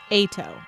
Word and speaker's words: Itto: Itto. Itto. Yeah, it's it's weird because it does feel like it would be Itito, but based on like English pronunciation, but Japanese ei.